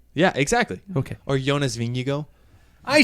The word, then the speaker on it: Vingegaard: Or Jonas Vingegaard. I say learned that- Vingegaard. We learned that last year. Yeah. I know, but I refuse. I say Vingegaard.